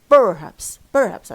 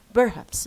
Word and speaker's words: perhaps: no, perhaps. في ناس بيقولوا perhaps. no, wrong. it's haps which is stress.